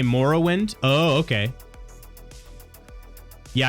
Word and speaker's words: Morrowind: modded version of current Morrowind rather than, waiting for Skywind. So I say Morrowind. Oh, okay. Yeah, I guess I say morrow as in like tomorrow.